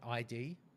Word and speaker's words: id: the Dark Ages so ID software and it is ID not ID it is ID the